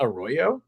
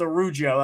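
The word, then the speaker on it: Araujo: It's not Arroyo? It's Arujo. That's how it's on the Dolphins website. That's how you say it.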